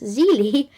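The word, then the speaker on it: зеле: and Colombia it's whiskey in Bulgaria it's cabbage pronounced zeli in Sweden it's omelette oh funny anyway enough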